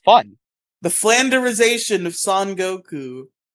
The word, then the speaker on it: Son Goku: The flanderization of Son Goku. Son Goku, not Song. Don't say it weird.